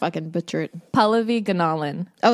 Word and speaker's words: Pallavi Gunalan: it up I always say Fulani gentleman and I'm always wrong it's can you say it correctly cuz I'm gonna butcher it Paula vegan Alan oh it's gonna polish all of these anomalies